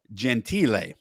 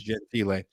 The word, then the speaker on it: Gentile: mispronounce stuff, but it's written as Gentile with a little thing over the E. So I believe that's Gentile.